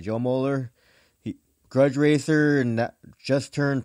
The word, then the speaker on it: Moeller: a line special guest Joe Mohler is how you say your last name Joe yes sir all right Joe Mohler Grudge racer and just